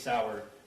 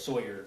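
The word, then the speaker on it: Sauer: he mentions the six sour he mispronounced sour as Sawyer which if you purchased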